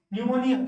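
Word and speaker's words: pneumonia: इसको क्या बोलते हैं न्यूमोनिया, क्या बोलते हैं न्यूमोनिया। इसको क्या बोलते हैं, क्या बोलते हैं। फिर देखो साइलेंट एस, यहाँ पे क्या बोलते हैं इसको, देखो डेब्रीज, डेब्रीज, यहाँ विस्काउंट बिल्कुल सही है।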